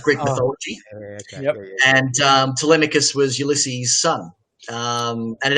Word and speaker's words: Telemikus: How to pronounce the name? People have called it various things. It's actually just Telemikus.